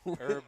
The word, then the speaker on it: Herb: Do you Oh, pronounce yeah, Do you yeah. pronounce the H in the name like that? What name? Herb. Or is it Herb? Herb Dean. No, it's definitely Herb. It's definitely Herb. Dean.